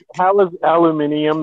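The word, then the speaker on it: aluminium: is a charm alluminium the right way to say it when there's no way I'm like how there's there's no letter in there that make the I by the way we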